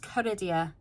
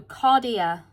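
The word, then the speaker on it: Cardea: Caridia? I think that's pronounced Caridia. Or, oh, Cardia. Cardia is a Roman goddess whose domain is hinges, thresholds, and doorways, both literal and symbolic.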